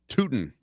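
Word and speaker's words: Tuten: I have uh Bashi Tutton, the Jaguars running back. Is that how you say his name? Tooten.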